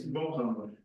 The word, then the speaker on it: João: right of the Polish, the projection of my name onto the Polish language could be something like this. If you pronounce, for those who speak Polish, you pronounce something like this, it's a good approximation to my name.